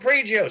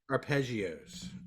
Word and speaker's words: arpeggios: good to know what prejeos I can't say it right but say it for me arpeggios arpeggios it's a French word well I'm part French